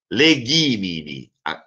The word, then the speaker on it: legimini: Legimini, qui, come vedete anche negli altri casi, mi è breve, quindi l'accento tonico deve cadere per forza su ghi.